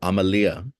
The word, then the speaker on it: Amalia: So Amalia. Amalia. Mm-hmm. Amalia. Oh man. Okay, dispense. You're good. Rhymes with Somalia, if that helps.